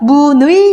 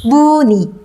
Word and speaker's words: 문의: 살려서 바로 합니다 의자 자 문의는 어때요 문 우희 입니까 뭐니 입니까 문의가 예쁘다 편하게 발음해 보세요 뭐니 에 발음은 뭐니 그렇죠 문이 여러분들의 차이점을 보셔야